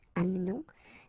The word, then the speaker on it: amenons: It's a silent her here, mute, amenons. Vous amenez, exactly the same thing. You don't pronounce this e.